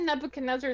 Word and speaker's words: Nebuchadnezzar: Take that Nebuchadnezzar snowball or whatever it was.